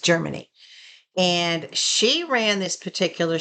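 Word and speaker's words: Jermani: or Germany and but it's spelled J E R M A N I, but it's pronounced Germany.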